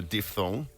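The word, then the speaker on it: diphthong: Mitch and he said it's pronounced a diff thong see the way I'm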